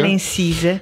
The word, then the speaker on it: Valensise: Je suis heureux d'accueillir aujourd'hui Madame Marina Valancise, c'est bien cela, ainsi que l'on prononce, c'est de l'italien. Oui, Valancise.